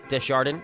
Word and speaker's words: Desjardin: Big shout out, Desjardin. It's pronounced like it's written. People, there's no accents, there's no silent S's like we talked about in the pregame show here.